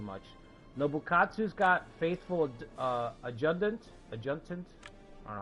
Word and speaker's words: adjutant: Nobukatsu's got Faithful Adjutant. I don't know how to say that. I say Adjutant with a D, but it's spelled with a T.